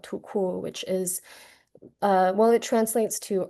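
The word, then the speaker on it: 土酷: is this aesthetic called tuku, which is, it translates to earth cool, but it kind of means rural cool. It also is pronounced too cool.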